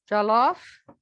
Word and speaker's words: jollof: Anybody peeked at their jollof? Try to pronounce it right.